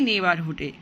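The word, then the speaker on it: neighbor: আমরা বেড়ে উঠেছিলাম একই নেইবারহুডে। এখন দেখো নেইবার, নেইবারের বানানটা খেয়াল করো, জিএইচ আছে। কোনো ওয়ার্ডে যদি জিএইচ থাকে তো সেটার উচ্চারণ হবে না, এটা হচ্ছে সাইলেন্ট লেটার।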